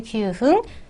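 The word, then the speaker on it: 九分: 쿠지 큐흥이라고 하셔야 합니다. 어, 뭐 큐지구 이렇게는 쓰시면 안 되고요. 쿠지 큐흥 기억하시면 되겠습니다. 그리고 10분은 역시 초금 반타금화되면서 어, 뉴 이렇게 발음하시고요.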